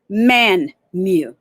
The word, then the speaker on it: Mmanwu: to talk about music in man mew that's pronounced man mu now it sounds so much more melodic um